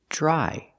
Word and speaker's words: dry: let's talk about pronunciation remember Dr together makes a j sound like juice and jump dry I change the verb